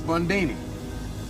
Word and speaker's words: Bundini: Bundini. Rhymes with Houdini.